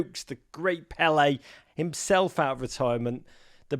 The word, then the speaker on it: Pelé: And I knew who Pelé was. I would have pronounced it Pele at the time, but I didn't know much of anything.